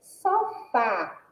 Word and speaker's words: sofá: Olhem só, sofá. A gente já percebe que a sílaba tônica é o fá e que tem um som aberto.